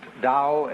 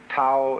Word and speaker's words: Tao: is Paul the Dao Tao pronounced Dao in the Mandarin dialect Tau in The Chiang Hai dialect toe in the Cantonese dialect